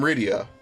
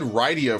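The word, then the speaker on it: Rydia: very close uhoh yeah I I said ryia first but I'm pretty sure it's Ria in the DS version I could be wrong though I'm a traveling scholar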